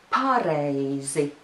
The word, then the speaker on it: pareizi: And notice that the stress is now on the syllable pa.